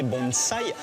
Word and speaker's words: bonsaï: pense évidemment au bonsaï même si on japonais il faut prononcer bons rails avec un s et ici il y